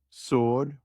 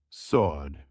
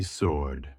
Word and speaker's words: sword: Wrong, sword with S sound. Correct, sword. The S is silent. Say sword.